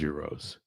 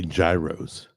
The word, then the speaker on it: gyros: America loves euros and America still mispronounces euros. They say gyros and then then there's people who will argue with you and say no it's not euros.